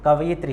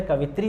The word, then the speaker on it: कवयित्री: तो कवयित्री शब्द ये होता है, लेकिन इसका उच्चारण जो है कवित्री होता है वैसे उच्चारण में, लेकिन